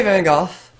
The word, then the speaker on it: van Gogh: Vincent van Gogh and I'm gonna say van golf because he's Dutch and that's how but his name would have been pronounced but if you want